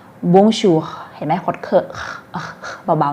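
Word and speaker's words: Bonjour: ออก เสียง ร่วม กัน นะ คะ บู ชู บุญชู ให้ หมด เกิด เบา ๆ นะ บูร์ชัวร์ บุญชู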